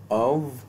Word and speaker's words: of: तो अब आपको ये क्लियर हुआ कि ओ एफ जो कि एक प्रेपोजिशन होती है इसको हम अव ओव और आव प्रोनाउंस करते हैं, ये ऑफ नहीं होता।